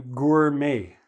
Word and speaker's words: gourmet: Now, a lot of places will sell you gourmet coffee. Okay, how do we pronounce this? Gourmet. Okay, it's a French word.